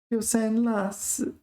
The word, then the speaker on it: 丢三落四: 丢三落四. Pay attention to the pronunciation of this one because it is la, not law. It says that here.